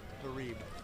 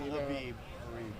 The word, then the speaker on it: Harib: Melina Harib. Not Habib. Harib.